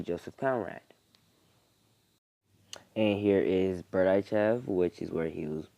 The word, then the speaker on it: Berdichev: It's pronounced Berdichev.